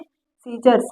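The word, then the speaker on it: scissors: सीजर्स मतलब कैंची होती है, यहाँ पर देखिए सी का कोई रोल नहीं है।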